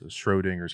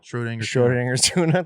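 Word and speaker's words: Schrödinger: not get quickly but s-c-h-r-o they can they know that shro and then dinger they know dinger okay from hitting dingers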